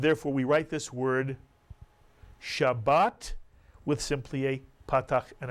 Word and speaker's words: Shabbat: this is the word Shabbat Mitsu jaan I'll remind you it has two vowels therefore it has two syllables every Hebrew letter either